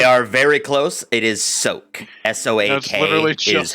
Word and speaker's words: Soak: It is soak. S-O-A-K That's literally is just how the it's way you said pronounced.